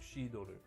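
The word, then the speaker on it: cidre: But the big If you want actual cider, it's called shidor. It's the French pronunciation.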